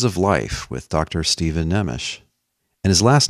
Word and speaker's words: Nemes: life with dr steven nemish and his last name is spelled n-e-m-e-s it looks like neems but it's pronounced nemish now despite all of